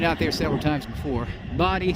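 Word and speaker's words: Bodie: there i've been out there several times before body spell b-o-d-i-e yeah i know it's not like it should be bodhi for years we pronounce it incorrectly booty the one the locals said no it's body brother and we did some research and found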